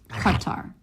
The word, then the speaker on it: Qatar: The T, but their T is the tongue tip doesn't come as far forward. And the R, of course, the classic American R that you can hold out. They don't have that. Theirs is more of a flap. So, if you're not comfortable saying Qatar, then I would suggest Qatar.